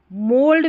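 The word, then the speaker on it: mould: मोल्ड में भी ओ यू को ओ पढ़ा जा रहा है।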